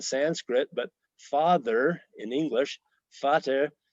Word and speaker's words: Vater: Pater, Peter in Greek, Latin, and Sanskrit, but father in English, Vater in German, the V being pronounced like an F.